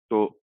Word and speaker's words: te: तो ये जो लेटर है इसका नाम ते है और आवाज देगा ये द की, जैसे कि हमारे एग्जाम्पल में है द से दवात।